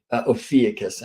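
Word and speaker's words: Ophiuchus: at the foot of ucus ofus I'm told is a better pronunciation where now a new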